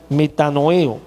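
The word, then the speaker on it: μετανοέω: Esta palabra arrepentimiento que está allí viene de la palabra griega metanoeo, con acento en la E, metanoeo, corrijo.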